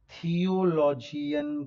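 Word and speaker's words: theology: LOGY जो होता है वो लजी प्रोनाउंस किया जाता है, लजी। यानी कि आप उसे बायोलॉजी नहीं कहते हैं, बायोलॉजी नहीं कहते हैं।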